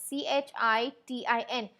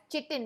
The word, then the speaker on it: chitin: It was called as CHITIN, and we are not going to pronounce it as chitin. We're going to pronounce it as chitin, alright.